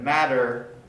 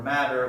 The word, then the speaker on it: matter: to highlight is that matter with the t or matter with the d results in the same pronunciation although we studied a